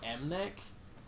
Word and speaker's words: MNEK: You guys remember Mnek? Yeah, M&EK. Is that how you pronounce that?